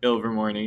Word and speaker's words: Ilvermorny: So in Ilvermorny, is that how you say it? Ilvermorny, yeah.